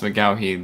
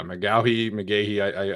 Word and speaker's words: McGaughey: Thomas McGaughey, the former special teams coordinator for the Giants. Yeah, McGahee. I've seen it pronounced both ways, but former special teams coordinator of the Giants.